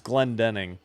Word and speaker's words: Glendening: It's Glendening. Been saying it wrong.